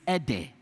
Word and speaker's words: ede: And I believe that it was ede, but because of how we moving from one generation to the next, they start mispronouncing it and start calling it edos, and it become edos. But it is ede.